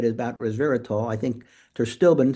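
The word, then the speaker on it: pterostilbene: I think terstilbin, spelled with a P, is a better alternative because it's much more bioavailable.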